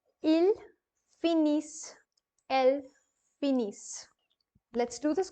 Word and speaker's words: finissent: Finally, you have ils, elles finissent. The reason why I'm pronouncing it as is because ISS is is, and NT again is going to be kept silent here.